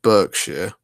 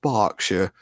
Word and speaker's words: Berkshire: It's spelled Berkshire. Oh, that took some mental brain work and capacity there. But it's sort of, if you read it, it's like Berkshire, but it's pronounced Berkshire from the posh people that live there.